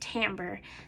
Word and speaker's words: timbre: And then timbre, and it looks like timbre, but it's pronounced timbre.